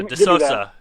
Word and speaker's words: De Sousa: De- Cuz I I thought I saw the other day he said it's De Sousa. Yeah, like Sammy Sosa. De Sousa.